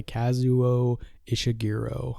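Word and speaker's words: Kazuo Ishiguro: this year was Clara and the Sun by kazuo ishiro I think that's how you say his name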